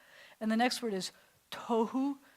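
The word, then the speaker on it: תהו: And the next word is tohu. You have no air left after you say tohu. You have to expel all of your air.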